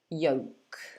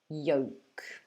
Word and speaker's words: yolk: the k so actually the l we don't pronounce the same as in salmon where we drop the l in this word we also drop the l in case you're not sure what this word means it's the yellow part of an egg and we pronounce it like this yolk yolk okay so it's yup and then we have the o sound yo and the k so there's no l some people say yolk